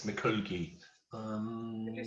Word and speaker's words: mikulgi: she's really happy okay sliding when you're sliding mikulgi okay so when you're you're um sliding it's mccooky um can you spell that sir yeah m i k u l